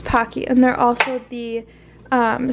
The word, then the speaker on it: Pocky: how do you say I'm Pocky or Pokey no it's not Pokey it's Pocky and they're also the